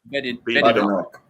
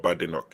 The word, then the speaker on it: Badenoch: Because I heard that it's not Badenoch. She said that there's no bad in my name. She said her name is not Badenoch, it's Badenoch.